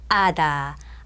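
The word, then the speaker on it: hada: 아다 아다는 아채로 시작되어 있지만 이거는 어떻게 돼요? 없는거나 마찬가지란 얘기예요. 묵음이라 소리가 안 나잖아요.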